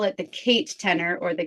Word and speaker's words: Katenor: new to this so it's my name Kate and the word tenor and then that's just